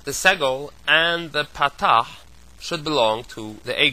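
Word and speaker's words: פתח: Kametz, Segol, Tzerei, Chirik, Patach, Shurik, and Cholim. Those are pronounced as follows. Kametz is O, Patach is A, Segol is A, Tzerei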